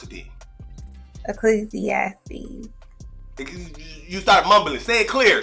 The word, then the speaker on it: Ecclesiastes: just wrong just fix it that's how you pronounce it ecclesiastes you start mumbling stay clear so the people